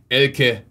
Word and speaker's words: Elke: So instead of saying Elke, you say Elke. That's her name. Right. Okay. And you probably, they told me. I'm like, Americans think that the E is silent. So I put a lot of emphasis on the E.